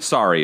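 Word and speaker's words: Sari: gabe is lame uh how are we pronouncing her name siree sorry is what i would say sorry sorry that's right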